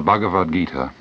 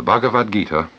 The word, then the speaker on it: Bhagavad Gita: following words I find the solace in the bhagavad-gita that I miss even in The Sermon on